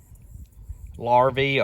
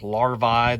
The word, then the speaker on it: larvae: i mentioned earlier that the larvae or larvae those are pronounced a couple of different ways of hive moths and